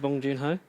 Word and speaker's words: Bong Joon-ho: Was it Bong Joon-ho? Yes. How did you spell it? Bong as in smoke it, and then June without an E, and then Ho as in Santa.